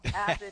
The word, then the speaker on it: Abed: Abed, sort of like tomato versus tomato. So Abed is how the kids would call us when we were growing up.